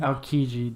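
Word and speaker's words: Aokiji: isn't that his name who the Admiral alii aliji that's how you say it the ice [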